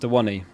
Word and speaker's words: Awoniyi: Pronounced Awoniyi.